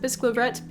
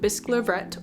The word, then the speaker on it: Bisclavret: I'm going to pronounce it Bisclavret because the way the poem rhymes implies that's the pronunciation, but I could be totally wrong.